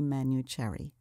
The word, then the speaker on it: Manuchehri: to make sure that they can find you it's spelled m a n u c h e h r i manu cherry right right thank you so much jackie yes